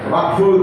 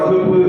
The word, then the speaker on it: வக்ஃபு: அரசியல் களத்தில் இருக்கிறவங்க வக்ஃபு அப்படிங்கிற வகுப்பு அப்படின்னு உச்சரிக்கக்கூடாது. வகுப்பு சட்டம், வகுப்பு திருத்த சட்டம், வக்ஃபு WAQF இங்கிலீஷ்ல.